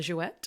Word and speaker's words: Jouët: iconic houses per perry and yes you do pronounce the tea on the jouette I found out and maison mum but first